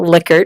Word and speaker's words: Likert: just to be clear that is pronounced believe it or not liquor not like ered I think many many people out there refer to likert and all of his